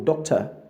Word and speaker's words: doctor: He's a medical doctor. So it's doctor and not doctor. So the O before the R is the schwa sound.